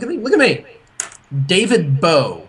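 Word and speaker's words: David Bowe: found it look at me look at me david beau not david bowie if you got rid of the guy he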